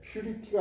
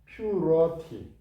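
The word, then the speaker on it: purity: 거룩과 털이 퓨리케안 하는데 퓨리티가 아니고 퓨러티 깨끗한 일이죠 청결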